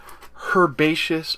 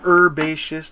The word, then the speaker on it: Herbaceous: this I believe is herbaceous or herbaceous depending on where you live and how you pronounce the word herb here in the United States we call them herbs but uh we're going